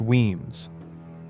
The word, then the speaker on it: Wemyss: Number 10, Wemyss, pronounced Weems, and it isn't a family name at all, it's a hole in the rock, Gaelic Uaim, cave.